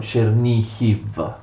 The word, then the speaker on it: Chernihiv: svetoslav riceve cerny gol che gli ucraini scrivono e pronunciano cernicchi poi il quarto figlio